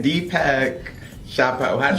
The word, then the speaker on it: Deepak Chopra: Deepak Chopra.